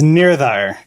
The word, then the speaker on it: Nirdhar: Nirdhar, do I pronounce that right? It's Nirdhar.